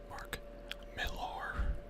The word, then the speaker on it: Mark Millar: and here's cover see it's by Mark Miller's mark millar I guess is how you say his name